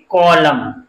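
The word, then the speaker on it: column: होता है वो साइलेंट राहत है तो इसका उच्चारण करेंगे कलम कैसे पढ़ेंगे कलम 18 मा क्या है ए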